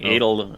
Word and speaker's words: Adol: Well, you were saying it like Dreidel. You're saying Was Adol. I? Yeah, you kept saying Adol initially.